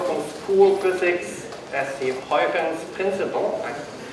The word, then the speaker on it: Huygens: school physics as the Huygens principle. Since he was Dutch, I'm trying to pronounce it that way.